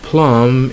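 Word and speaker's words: plumb: the B okay so they end with M B and if you dropped the B so the B is silent so you have lamb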